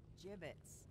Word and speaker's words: gibbets: Hey look Avery had some gibbets left over jibbitz what pronounced jibbitz are you sure yeah well no